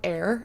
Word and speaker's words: Ayr: There's also this, like, spray that I learned about very recently at the conference called Air. It's spelled AYR.